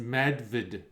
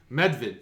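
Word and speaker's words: Medvjed: it up it's pronounced medved it means the golden bear does it the golden bear medved so the j is totally silent with the e d it's more of like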